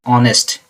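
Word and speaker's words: honest: इसको जब पढ़ते हैं आप ना, इसका प्रोनाउंसिएशन आ आता है, ऑनेस्ट, यानी वॉवल साउंड है, इसलिए यहाँ पे एन का यूज होगा।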